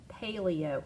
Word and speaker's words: paleo: Oh, thank you, long A. Okay, long A sound. Yeah, paleo.